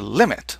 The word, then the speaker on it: lim: That's what that LIM stands for. Well, we're going to pronounce it limit.